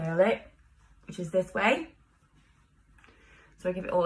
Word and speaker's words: MUA: it which is this way so I give it all a twist like this and then I take my wave spray from way which is spelt MUA I and pronounced way because that's what we do